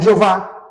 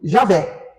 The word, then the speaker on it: Javé: Por isso que eles falam Jeová. Eu prefiro Javé. Eu uso sempre a expressão Javé. E parece que a maioria dos entendidos falam isso, Yavé.